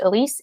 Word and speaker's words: Elise: active on social media and my name is Elise Elis and last name is a